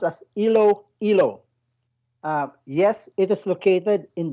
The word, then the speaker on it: Iloilo: close to saying it correctly well it is pronounced as ilo hilo yes it is located in the western part